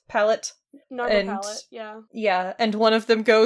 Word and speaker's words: Narmer Palette: Yes, Carter asks the Shabti in the library to get him the, how'd you pronounce this, Narmer plate? Palette? Narmer palette, yeah.